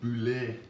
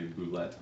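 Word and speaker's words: bulette: The name was actually introduced as mocking the French, and it was supposed to be pronounced boulet. But later things have kind of changed it, and most people say boulette now.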